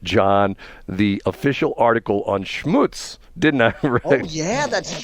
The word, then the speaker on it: Schmutz: way to put it Schmutz is a Yiddish word that means dirt or Grime properly pronounced it should rhyme with puts not cuts it is sometimes spelled